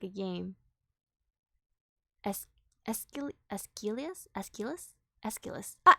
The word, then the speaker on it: Aeschylus: Aeschylus? Ah, Aeschylus! There we go. Thank you. Yeah, that is how it's pronounced, Aeschylus.